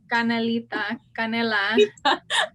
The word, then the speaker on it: canela: Canela.